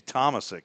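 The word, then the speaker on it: Tomasik: Casey Thomasick. Is that how you say it? Yep.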